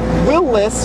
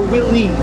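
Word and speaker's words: Willys: the word is because there is some disagreement in whether or not you pronounce it Willis or Willies yeah see I've heard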